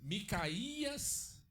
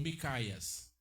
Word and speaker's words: Micaías: Hein, irmãos, nós lemos como Micaías ou Micaias. É interessante. Hã? Micaias? Micaias, tem acento, né?